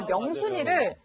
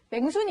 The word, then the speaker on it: 명순: 경상도 사람이다 보니까 명순이를 맹순이 이렇게 발음을 하는 거예요.